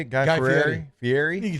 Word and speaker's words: Fieri: Guy Fieri?